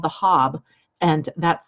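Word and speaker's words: Haab: Their calendar that is closest to our Gregorian calendar was called the Hab, and that's spelled H-A''AB.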